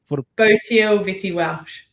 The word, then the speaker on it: Botille Vette-Welsh: How do we get Botille Vette-Welsh.